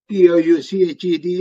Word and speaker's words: touched: And then not touched is touched. T-O-U-C-H-E-D is touched. That's why I said in English, all the letters are not necessarily pronounced.